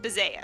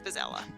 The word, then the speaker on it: Bazella: I pronounce this as Baza. That's not correct. It's Bazella.